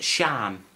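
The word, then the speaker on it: Siân: Right, again, an S-I, so it's Shan.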